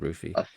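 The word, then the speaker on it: Ruthye: It's spelled R U T H Y E. I'd say that's called Ruffy.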